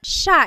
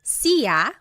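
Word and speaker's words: siya: so it's just you by yourself one person sha means he or she and I want to point out that sha is gender neutral that means you have to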